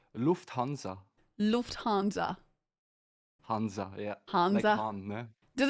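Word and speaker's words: Lufthansa: No, it's actually uh Lu Hanza.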